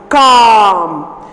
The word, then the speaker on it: calm: For example, the first one, calm. So there what is silent? L. L is silent there.